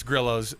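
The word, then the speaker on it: Grillo's: Hispanic pronunciation. Why isn't it Gorillos? It's a Griios. No, it's Grillos.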